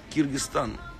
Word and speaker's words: Кыргызстан: Так, Слам с Киргизстана, Киргизстан, произносится Киргизстан, да, пишется Кыргызстан.